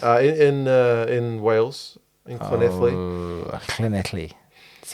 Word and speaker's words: Llanelli: Oh, Llanelli. That's how you pronounce it. Okay. Let's try and say it. No. Llanelli.